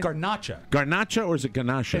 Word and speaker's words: garnacha: garnacha or is it garnacha it's garnacha Gara so good my delicious